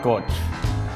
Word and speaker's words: Koch: It's pronounced Koch.